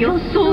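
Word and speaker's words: 吉宗: な店で、吉宗と書いて、はい、よっそうと読むんですけ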